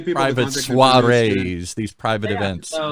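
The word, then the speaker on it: soirée: Give people private suarees, these private events. So my uh the Instagram is bonjour.relets. And spell that because nobody will.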